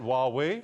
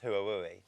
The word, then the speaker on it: Huawei: Huawei. See, the real injustice that it's not pronounced hui.